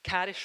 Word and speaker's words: Karis: It's Karis rhymes with Paris.